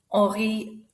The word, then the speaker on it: Henri: That's right, the H is not said. Henri is a silent H.